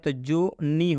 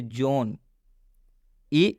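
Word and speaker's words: zone: हम इसे ज़ोन पढ़ेंगे, ज़ोन-ई नहीं, और यहाँ स्पष्ट रूप से लिखा है कि 'ई' अंत में है, इसलिए 'ई' का उच्चारण नहीं किया जाएगा।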